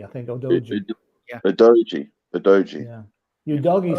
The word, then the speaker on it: Udogie: Actually, they pronounce it Odogi. It's actually Odoji, I think. Odoji.